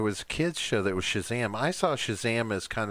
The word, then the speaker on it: Shazam: couldn't Kazaam it Shazam I don't care what anyone says the K is not typically pronounced with an SH sound but if you're not